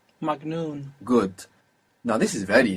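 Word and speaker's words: مجنون: n n good and this G which is pronounced G in Egypt in classical Arabic is like J so bearing that in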